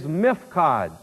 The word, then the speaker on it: mifkad: Here, where it says, burn it in the appointed place of the house, that word, appointed place, in Hebrew, is mifkad. And I'll spell it for you, M-I-P-H-Q-A-D.